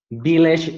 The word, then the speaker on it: village: village near Delhi. Okay, He lives Leonardo, no, Juan Pablo. Remember that V, it's pronounced different from B, right?